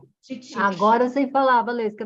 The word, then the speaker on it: titiksha: Então, a pronúncia é Titiksha. Titiksha.